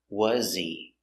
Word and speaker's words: was he: wearing pronunciation was he he is not stressed so the H is silent was wasy remember was has a zebra sound Z was not was but